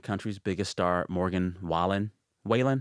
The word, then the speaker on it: Wallen: Whalen? How do you say it? Morgan Wallen.